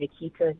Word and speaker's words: Nequita: On Instagram is my name, Nequita, but it's spelled like Chiquita Banana almost, Nequita.